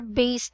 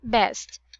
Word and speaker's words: based: water based venues. Oh, yeah. Okay, again, how do you pronounce the water based venues? Water-based venues. Based, Based. not best. Based. Based.